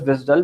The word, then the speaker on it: WSDL: controlled and managed by WSDL which is pronounced as visdal we will be covering